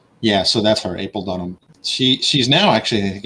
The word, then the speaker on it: Dunnam: So it's spelled Dunnam, but pronounced Dunham, like Thomas.